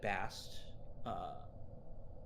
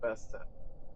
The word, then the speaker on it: Bast: I am pronouncing it right. It is Bast, not Bastet. It is Bastet, but just like in Egypt, like Bastet, Bast, they're the same deity.